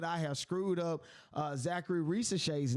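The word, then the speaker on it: Zaccharie Risacher: name and and I'm thinking oh rash rash Zachary rash but is Zachary rash okay it's the correct pronunciation is Zachary Ree and I wanted to make sure that I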